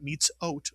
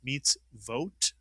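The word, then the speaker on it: מצוות: Don't think it's an ot. It's not meets ot. Oh, no. It's meets vot.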